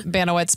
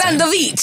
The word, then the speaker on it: Banowitz: How do you say your last name again? Banowitz, but Yeah, I don't. I think okay. if someone's from Poland, they'd be like, "That's not how you say it." It's Bandowicz.